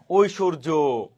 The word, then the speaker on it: ঐশ্বর্য: অন্তস্থীয় জ থাকলে আমরা বর্গীয় জ উচ্চারণ করব। এবার দেখো, ঐশ্বর্য, ঐশ্বর্য।